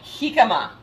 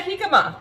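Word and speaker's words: jícama: It's actually a jicama, spelled with the J at the beginning of the word.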